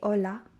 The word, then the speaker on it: hola: ace and basically the h is silent in spanish we don't pronounce it we say hola we don't say hola